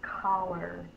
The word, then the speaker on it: collar: When we have a C followed by an E-I-R-Y, it says the sound. The second sound in collar is ah, which is a short O sound. O is not one of the letters that's going to change the C to an S sound. So, the C is going to say the K sound when it's followed